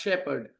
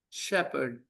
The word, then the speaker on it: shepherd: It is pronounced shepherd. Shepherd. Shepherd. Shepherd. Shepherd. The correct pronunciation is shepherd. Assistant shepherd needed. Shepherd. R is silent. H is silent. Think of it as SHEPED, shepherd.